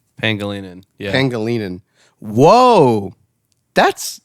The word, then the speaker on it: Pangelinan: So you take the name Angelina, and this is the This takes care of pronunciation and spelling. Okay. Angelina, because everyone has heard that Yep. name before. You change the G in Angelina to a hard G instead of a soft G, so Angle. Angelina. Okay. And then you put a P in the front and an N at the end, so you get Pangelinan.